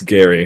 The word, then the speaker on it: Gary: It's not Jerry, by the way. It's pronounced as GIF. So that's that. The flavor Are text you says sure? it. The flavor text is pronounced. The G is That's pronounced as the G in GIF. intriguing. So it's Gary.